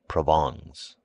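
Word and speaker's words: Provence: his wife's relatives from provance pronounced proong he imported officials by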